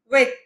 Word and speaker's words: huit: 8, huit. Huit. Hope you remember H is silent, so it is pronounced huit.